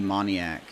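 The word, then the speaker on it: Moniak: going to be keeping my eye on Mickey moniac that's how you say his name for the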